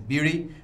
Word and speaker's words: Bheri: Of course, the better pronunciation is Bheri, but I've been corrupted all the time to Bheri, and I've been living with that for all these years, right?